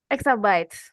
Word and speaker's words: Exabytes: lalu ada customer support executive at Peta Exa, Exabits, atau gimana nih Kak bacanya? Exabytes.